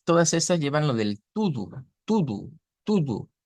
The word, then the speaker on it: tudo: Y vean que todas estas llevan lo del tudo, tudo, tudo. Se escribe T-U-D-O, pero se pronuncia con U, con dos U.